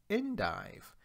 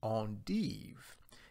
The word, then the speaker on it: endive: between these different varieties the curly variety for example is pronounced endive the Belgian variety is pronounced on deve in some regions of